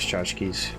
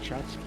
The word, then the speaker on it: tchotchkes: Because, you know, Yondu from Guardians of the Galaxy, he likes tchotchkes. Well, not Chotsky. Tchotchkes, he likes them.